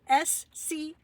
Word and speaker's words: Schumann: I'm sorry, it's spelt Schumann.